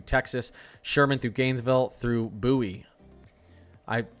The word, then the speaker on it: Bowie: Sherman, through Gainesville through Buoie. I someone said that's pronounced buoy, not Bowie.